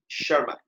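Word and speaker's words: Tschermak: एक तो Hugo de rice, Hugo de rice, Karl Correns और शर्मा। ये 3 साइंटिस्ट थे। टी साइलेंट है बेटा इसमें, टी is silent, okay, T is silent and शर्मा।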